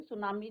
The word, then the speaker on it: tsunami: जैसे हमने यहां पर डिस्कस करा था टी क्या होता है बच्चों? साइलेंट होते हैं। सुनामी जापनीज़ वर्ड है।